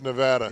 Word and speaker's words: Nevada: sunny Las Vegas Nevada how's my pronunciation of that sucks Las Vegas Nevada it's Nevada yeah I've been told that I was going